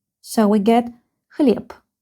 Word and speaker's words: хлеб: If this letter is in the end of the word, it is pronounced like P. So we get ХЛЕБ. ХЛЕБ.